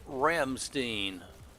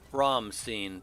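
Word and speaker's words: Rammstein: All right, welcome back, Ramstein, or Ramstein, depending on what dialect you use. I'll try to go German, Ramstein.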